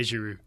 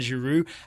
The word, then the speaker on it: Giroud: I want to give a thumbs up to the duo where you don't pronounce the D's. Okay. Eden Hazard, Yeah. Olivier Giroud.